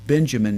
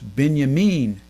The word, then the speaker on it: Binyamin: name is in the in the united states we would say benjamin netanyahu but if you're in israel that name is not benjamin netanyahu it's binyamin netanyahu but if you're talking